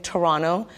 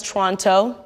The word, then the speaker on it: Toronto: Emphasis on the way I'm saying Toronto. You know someone is from Toronto if the T is silent. If someone says Toronto, imposter!